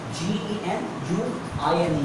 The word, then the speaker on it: genuine: Hum bachpan se sunte aa rahe hain, Japan ka maal khao, Japan ka maal genius hota hai. Bhai, this is not genius, that is genuine.